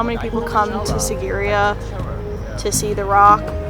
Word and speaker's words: Sigiriya: We were told it's pronounced Sigiriya with like a Z for the S.